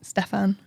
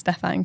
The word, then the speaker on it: Stephen: Stefan. Which you've spelt Stephen. Yeah, but it's pronounced Stefan because he's got flair.